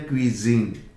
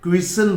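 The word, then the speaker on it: cuisine: और ये यहाँ पर जो एक शब्द है, इसका सही प्रोनाउंसिएशन है क्विजीन। क्या प्रोनाउंसिएशन है? क्विजीन। कुछ लोग इसको क्विसन बोलते हैं, दिस इज क्विजीन, यही सही शब्द है।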